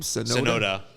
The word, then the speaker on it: Tsunoda: So, which is going to be interesting, because Yuki Tsunoda is going to be taking a seat at Red Bull at the Japanese Grand Prix.